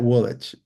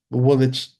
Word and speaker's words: Woolwich: But there are certain words that you look at it and you go, that Woolwich. Woolwich is Woolwich.